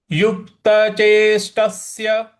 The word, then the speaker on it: चेष्टस्य: अब ट के बाद जो छोटा वाला स है, आधा है, वहां पे भी हमको हल्का सा बल लगाना है। तो कैसे पढ़ेंगे इसको? युक्त चेष्टस्य, युक्त चेष्टस्य, युक्त चेष्टस्य, इस प्रकार से पढ़ना है।